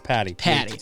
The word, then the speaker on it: Patti: problems thanks for having me how do you pronounce the last name it's Patty Patty okay that's what I thought I just wanted